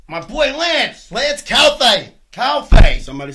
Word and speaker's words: Calfe: Calfe.